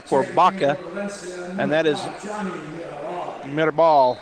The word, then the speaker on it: Mirabal: Baca, and that is Mirabal. I'm going to say it like Coach does. I was calling him Mirabal. Put a little accent on it.